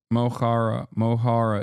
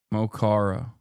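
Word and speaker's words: Mo Chara: Mohara is how you pronounce it. Mokhara.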